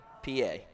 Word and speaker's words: Pa: Well, you know, it's funny because I played with a kid, and they pronounced it Pi. But PA.